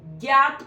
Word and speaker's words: ज्ञात: ठीक है, शुद्ध जो प्रोनाउंस करते हैं ना हम, वो यही है, ज्ञानी, ज्ञात। ठीक है, ज्ञात को बोलते हैं ज्ञात।